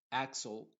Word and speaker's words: Axel: una x original y cuando una x tiene una consonante Después de ella se va a pronunciar con su sonido original por ejemplo Axel aquí nos damos cuenta